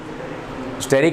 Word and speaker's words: steric: स्टेरिक hindrance याद रखना, पड़ोसियों का रिपल्शन, इसे स्टेरिक हिंड्रेंस बोलते हैं, ठीक है। Depends upon स्टेरिक hindrance, स्टेरिक STERIC, स्टेरिक hindrance. हाँ, कुछ लोग स्टीरिक भी बोलते हैं, but that pronunciation is स्टेरिक।